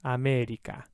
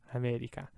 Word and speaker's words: America: always a banana banana same with this word here in english we say america right there's no an italian and there's no e it's always america america and this word here